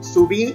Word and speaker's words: subí: Y subí, entonces esa sí tiene la sílaba tónica en la última sílaba.